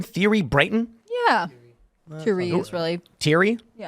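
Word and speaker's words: Thierry Breton: How do you pronounce this guy's name? Thierry Brayton?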